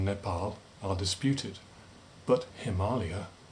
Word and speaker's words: Himalaya: Well, okay, the origins of the name Nepal are disputed, but Himalaya definitely comes from the Sanskrit, the Alaya, the home, of Himma, snow.